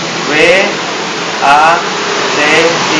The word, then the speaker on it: Wati: W A T I dibacanya Wati.